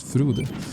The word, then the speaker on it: Frode: That's a Norwegian name, actually. Or at least how we pronounce it. Frode.